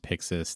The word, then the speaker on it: PYXIS: Yeah, which is pronounced PYXIS.